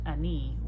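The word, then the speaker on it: Enei: And for some reason, just Ani, the pronunciation just came to me.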